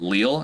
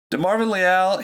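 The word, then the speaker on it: Leal: youtube video first because that is how you pronounced it it is not leel it's lyall he is he hails from a college texas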